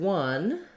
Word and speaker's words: one: says the vah and also there's no letter for our W sound in one but the word one is the same as this word one we won the game so for anyone you